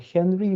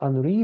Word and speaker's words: Henri: You should pronounce not Henry, but Henri, because he was French.